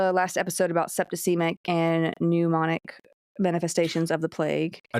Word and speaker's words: pneumonic: especially when it's like pneumonic. Pneumonic plague, excuse me. Pneumonic. What? Anyway. I'm just pronouncing the P.